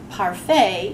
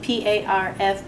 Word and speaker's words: parfait: word parfait is one of those words which does not sound like it looks when it's written down that's because it's a word in french and that is why we say parfait even though it's spelled